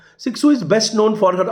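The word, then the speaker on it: Cixous: x o u s we pronounce this word six zoo sixu is best known for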